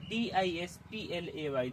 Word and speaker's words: display: मेरे कहने का अर्थ यह है कि किसी भी शब्द के अंत में ए वाई लिखा मिल जाता है तो ए वाई का उच्चारण ए जैसा होने लगता है। जैसे मैंने लिखा है DISPLAY, देखो लास्ट में मिला